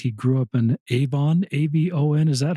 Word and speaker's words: Avon: A ben. Is that how I pronounce it? Yep. Like the makeup company.